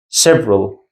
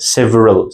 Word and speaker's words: several: Next we have several. We not pronounce them like several. Several. several because the letter E after V sound is silent which we do not pronounce simple and easy.